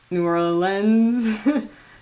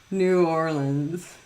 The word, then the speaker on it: New Orleans: have an Oregon Wisconsin New Orleans or New Orleans New Orleans three syllables uh I have a